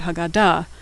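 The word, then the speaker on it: הגדה: The hey at the end is silent.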